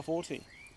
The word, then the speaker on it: forte: Heroics aren't really our forte. We were just happy stealing gold from whomever and whenever we got a chance. Firstly, it's pronounced forte, John.